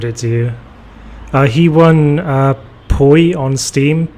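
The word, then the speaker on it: Poy: He won Poi on Steam, P-O-Y. That's how it's pronounced. That's how it's spelled.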